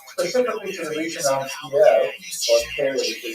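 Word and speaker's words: Kyiv: and Khazar migrations, specifically to the region of Kiev, or Kiev, as they say nowadays in English. Actually, let's clarify that for a second. Kind of a weird thing. When you listen on the radio, everybody says Kiev.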